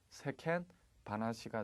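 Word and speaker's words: 世間話: 자, 세상 돌아가는 이야기, 세상 이야기 어떻게 발음하면 됩니까? 세켄 바나시가 되겠죠. 정답은 B가 되겠습니다.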